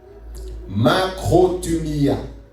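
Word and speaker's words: μακροθυμία: La patience exprimée envers les hommes, j'ai noté, je ne vais pas bien prononcer, mais je vais le noter, vous pourrez vérifier vous-même. Makrothumia.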